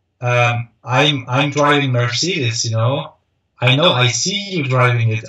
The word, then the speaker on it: Mercedes: I don't know how to pronounce it in American language, but in German it's Mercedes. Mercedes.